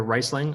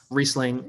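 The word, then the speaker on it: Riesling: I've heard mispronounced so I can't tell you how many times I hear riceing oh I'll have a riceing and um nothing drives a wine server or somier nuts faster than mispronouncing um common wine name so reing is the name of it um and I know they spell it wrong and they put the I before the E I got it but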